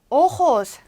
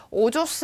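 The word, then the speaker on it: ojos: 오호스, 오호스. 선생님 이거 뭐예요? 이거 오조스 아니에요? 뒤에서 다 설명해 드립니다. 오호스라고 읽어주시면 돼요.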